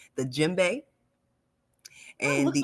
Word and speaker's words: djembe: to say, if I'm saying it correctly, the djembe, Oh, and looks the like you said that affirmation. very correct. Right, correct. Okay, the Yeah, it's very correct. djembe.